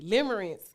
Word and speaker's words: limerence: Camellia, limerence. This is the last thing I want to ask you. Yeah. Limerence. Oh. Did you look it up? No, I ain't looking. Okay, limerence is when you think you're in love, but you're not.